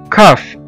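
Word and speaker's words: cough: وزي كمان كلمة كاف، كاف أو يسعل، الواحد لما بيكح دي اسمها كاف، كاف C-O-U-G-H، كاف.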